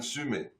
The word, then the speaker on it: Summe: Oh, It's I don't Sume think or Summy or something else. Yeah. It's a weird Summe. Swiss Say it like French. name. Summe.